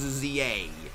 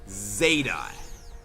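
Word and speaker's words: Z-A: it's a punt basically everywhere other than the US the letter Z is pronounced as Zed so it is supposed to be pronounced not as Pokemon Legends Za but as Pokemon Legends Zeta it's it's it's a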